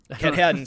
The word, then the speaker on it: Katahdin: how she planned to climb Mount, how'd you pronounce it, Joe? Mount... I don't even know. I'm wrong. Katahdin? Katahdin.